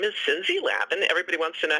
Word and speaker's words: Cinzi: So, in fact, in Italy, it's pronounced Cinzi. So, but I pronounce it the American way.